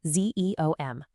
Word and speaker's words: Xeomin: And that's where zemen, that's pronounced zeo m, comes in.